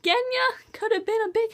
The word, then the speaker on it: Genya: But, then, oh, then there's Genya. I don't know how to pronounce her name. Genya. It's like Reina from Heroes of Olympus, except this is with a G.